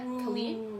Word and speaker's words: Khalid: It's a single by Kane Brown, Sway Lee, and Khalid.